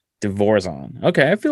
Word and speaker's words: DeVorzon: So the correct pronunciation is DeVorzon. DeVorzon.